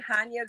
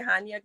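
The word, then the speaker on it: Chania: memories um was in hanya greece it's spelled c-h-a-n-i-a hanya greece and i remember my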